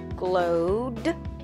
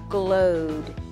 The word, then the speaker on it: glowed: Just add an ED to the end of glowed. Remember, cross out the E because the E is silent if there is not a D or a T in front of ED.